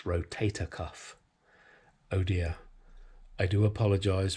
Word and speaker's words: rotator cuff: It's not rotor cuff, is it, guys? It's rotator cuff.